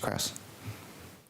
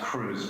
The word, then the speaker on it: Krauss: i'll start with you mr krauss thanks it's pronounced cruz by the way apologies